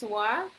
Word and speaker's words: は: This is from today, but other ones, we have wa, but it becomes wa. Pronunciation becomes wa if it's between the sentences, connecting the sentences, right?